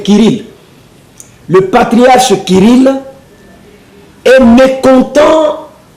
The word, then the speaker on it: Kirill: par le patriarche Kirill, on peut l'appeler Cyril ou Kirill, ça s'écrit de la même façon, mais sinon on l'appelle Kirill.